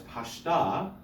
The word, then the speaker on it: pashta: Now, the problem is, in this exercise, pashta is accented on its last syllable, so they're putting a pashta on a non-accented syllable in the word pashta only.